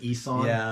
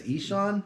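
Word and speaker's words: Ihsahn: For the longest time, we pronounced it Eson. You know, and then it was only like a couple weeks ago that I was like, oh, I guess he says Eshan.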